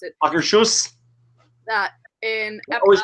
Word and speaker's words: Akershus: Was the vegetable terrine from Akershus in Akershus, however you pronounce it. Akershus.